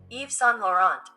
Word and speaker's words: Yves Saint Laurent: Yves Saint Laurent. Yves Saint Laurent. You really don't you pronounce the T. It's Yves Saint Laurent.